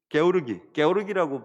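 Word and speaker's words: Георгий: 게오르기라고 발음을 해야 되더라고요. 조지를 러시아 말로 게오르기라고 발음하던데, 게오르기 주코프가 이제 점령을 합니다.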